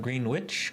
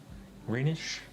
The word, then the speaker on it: Greenwich: And W is silent. What? Greenwich Meridian time zone? Oh, Greenwich? It's not Greenwich? Greenwich? Greenish?